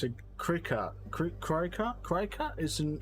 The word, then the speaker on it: Cricut: wool but wood not wool okay okay it's pronounced cricket oh well cricket whatever cry cut it looks